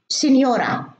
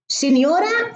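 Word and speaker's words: signora: مثلا في اللغة الإيطالية بيكتبوا سينيورا أو سينيور، ما في واي ما في اي، سينيورا فيها جي وان، ولما تكون الجي وراها ان تنطق يو، سينيورا.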